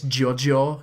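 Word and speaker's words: GioGio: Geo's yes it gets Jojo cuz that's how Italians would pronounce it but that's G or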